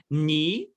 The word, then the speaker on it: knee: k so knife we don't pronounce the k knee we don't pronounce the k knowledge we don't pronounce the